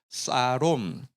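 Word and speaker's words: שלום: 단어 평강이라고 한번 따라가겠습니다 샬롬이 좀 히브리어 발음으로 좀 비슷하게 하면요 한번 따라가겠습니다 사롬 근데 여기 어 형제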